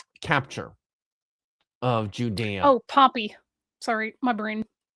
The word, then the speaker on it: Pompey: the Great, decades before Pompey's capture of Judea. Oh, Pompey. Sorry, my brain. I heard Pompeii as in the city, and then I had to immediately go, no, Pompey, the guy.